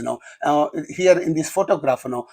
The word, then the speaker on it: photograph: It is because you know uh here in this photograph know only the first syllable receives the stress but